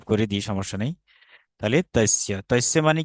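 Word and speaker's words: तस्य: যে প্রথম বাংলা লেখাচ্ছি, দেখুন, ত দন্তস্য জফলা। আচ্ছা, এইটা হচ্ছে তৈস্য শব্দ, তস্য, ঠিক আছে। তস্য, আমি এখানে টাইপ করে দিই, সমস্যা নেই। তাহলে তস্য, তস্য মানে কি, তস্য মানে হচ্ছে তার।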